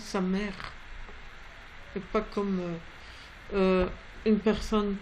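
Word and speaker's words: סמך: Et ça se prononce Samer. Et pas comme une personne que j'ai entendue qui disait sa mec. C'est pas sa mec, sa mère. Sa mère. C'est un R roulé.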